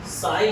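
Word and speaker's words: psi: दीजिए, देखिए जहाँ लिखिए साई लिखिए, जहाँ साई यहाँ आ रहा है, जहाँ साई ये साई लिखो, साई की स्पेलिंग यही है, पी साइलेंट, जहाँ साई इलेक्ट्रॉन का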